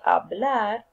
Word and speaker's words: hablar: W will be pronounced as in English, and H is always silent in Spanish. So we say hablar, like, and hacer.